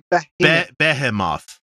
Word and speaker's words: Behemoth: It's spelled Behemoth. Yeah, Oh, Behe- that's behemoth. right, behemoth. it's a Hebrew word. So it's not Behemoth anyway. Like even No, in it's behemoth. Americanized, it's behemoth.